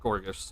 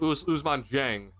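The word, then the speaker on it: Ousmane Dieng: It's not Gorgas. How do you say his name? Usman Jang.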